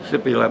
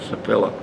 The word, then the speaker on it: Sipila: That's the Finnish name, by the way. How it's pronounced. Sipila, but I use Sipila, but you can't pronounce it the other way.